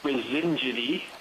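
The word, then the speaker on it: Brisingidae: Chris, can you pronounce that again, please? There we go. Yes, so the family is Brasingidi.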